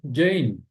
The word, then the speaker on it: Jane: E aqui eu não pronunciei a letra E aqui de Jane. Em inglês, né? O nome Jane é pronunciado Jane.